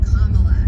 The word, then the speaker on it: Kamala: say the word name kamala so just like it's very easy so it's just like a comma in a sentence and then you add lots okay that works for me